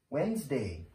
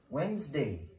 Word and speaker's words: Wednesday: are being so mister thank you very much Wednesday Wednesday Wednesday is a day I got a meeting